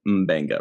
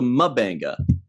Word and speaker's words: Mbenga: started i wanted to be sure i was pronouncing his name correctly um benga right then we hear pike calling him vega